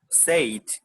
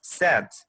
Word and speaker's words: said: say said said okay so it's not said okay it's sad say sad sad okay thank you so